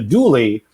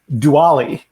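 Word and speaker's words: dually: i just debuted and it was the dooley and i said diwali i have never heard it spoken out loud a diwali yeah i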